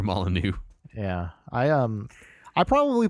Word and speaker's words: Molyneux: said was true that Peter maluck guy lied Peter molu and eventually later we learned how to pronounce his name correctly and learned that he made other games too so that was my intro to Peter molanu yeah I um I